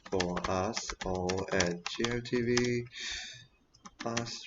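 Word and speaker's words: 八: or something i think it's called pa that's pronounced bar the lucky number yeah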